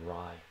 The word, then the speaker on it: Rai: Another sci-fi from Valiant Comics would be Rye. Pick up Rye, the first issue of the relaunch that came out. Fantastic science fiction. Beautiful science fiction with some amazing art, right? And it's spelled RAI, okay, from Valiant Comics.